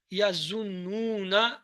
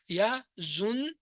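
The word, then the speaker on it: يظنون: Yazunnuna, yazunnuna. It's a noon twice you have to pronounce. Yazunnuna, yazunnuna.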